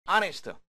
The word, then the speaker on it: honest: An honest boy, honest. 에치가 발음되지 않습니다.